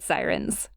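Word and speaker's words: Psirens: those are the void sirens yeah siren but with a silent p because they're psychic you know it's super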